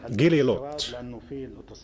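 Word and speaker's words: Glilot: There was always a debate how to pronounce this. Gililot. Gililot.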